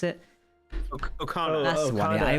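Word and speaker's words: Okona: How do you pronounce it? Okana.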